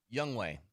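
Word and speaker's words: Younghoe: How do you pronounce the field goal kicker's name? Young Hoku. Young Way.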